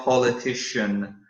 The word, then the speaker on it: politician: attention to this word, politician. Okay, the C sounds like sh in this one. Okay, let me try to write out a politician. So practice your pronunciation as well. Politician.